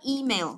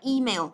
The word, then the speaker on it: email: Từ này chọn âm đầu tiên, chúng ta nhớ nhá, đọc là email. Còn các bạn học đọc là email là sai chứ. Email đọc rất là kiểu nó đều đều như thế là không đúng đâu. Đọc là email đúng không? Email, và mình nhấn vào âm đầu tiên nhá.